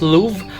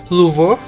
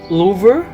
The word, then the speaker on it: Louvre: By the way, I always hear this word pronounced as Louvre, but when I checked some French clips on YouTube, they said it should be Louvre or Louvre.